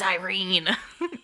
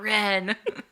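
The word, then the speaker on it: Yrene: It's Irene. It's not Ren.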